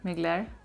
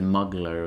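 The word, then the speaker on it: Mugler: muse from mcglair did i say it right migler um mcglaria yeah yay yeah i think i think first time ever yeah i think in one of the first videos you said muggler or something like that i'm not sure what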